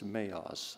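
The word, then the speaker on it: maoz: in the in the original language it's maos i don't know if you can pronounce it that way or not m-a-o-z sanctuary strength that's what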